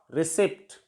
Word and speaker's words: receipt: For example, RECEIPT. Here, P is silent. It's pronounced as receipt, not receipt.